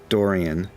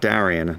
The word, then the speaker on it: Dorian: to Sidle up to um Dorian not Daran not dorc Dorian Darion is how they say it in New Jersey tell tell Dorian how's